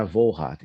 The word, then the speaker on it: Volhard: questão da pronúncia correta, então é Wohlrat e não Wohlrat, mas para mim não tem problema.